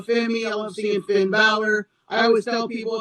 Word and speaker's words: Bauler: I love seeing Finn Balor. I always tell people if they pronounce my name Baller, I say it's Balor like Finn Balor.